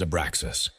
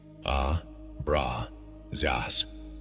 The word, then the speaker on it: Abraxas: The name is Abraxas. 7 letters, 3 syllables. 1 frequency, A, Bra, Zas, pronounced as 3 distinct tones moving through your body.